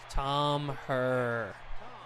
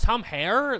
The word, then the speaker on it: Herr: Tom Herr. Oh, it's Tom Hare? That's oh. Oopsie, I've been mispronouncing his name.